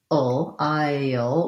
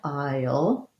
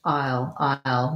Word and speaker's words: I'll: So I'll sounds the same as this kind of aisle, like the grocery store. So thinking about it like an I'll with a little bit of a glide, I'll. And if it gets reduced, it's just I'll, maybe a little bit of little less diphthong there, but I would stick with I'll for that one.